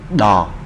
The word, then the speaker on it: ដ: đó là phụ âm đò. Đây là chữ đo nha các bạn. Đò, mình đọc là đò.